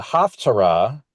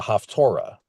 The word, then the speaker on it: Haftarah: The Haftarah has often been pronounced slightly differently. You often hear it being pronounced as the Haftorah.